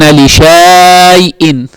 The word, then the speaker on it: لِشَيْءٍ: If he opens the mushaf and he reads, وَلَا تَقُولَنَّ لِشَيْءٍ in Surah Al-Kahf, it is لِشَيْءٍ. So what's the alif doing? That's the writing of it. But how do we pronounce it? لشيء.